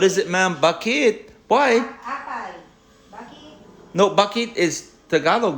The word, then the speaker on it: apay: Apay. Apay. Spell it.